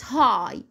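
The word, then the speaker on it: high: كلمه ايه زي كلمه هاي هاي اللي هي بمعنى عالي ادي الجي والاتش يا مس جت معايا في اخر الكلمه بس هنا ما نطقناها دي حالات شاذه طبعا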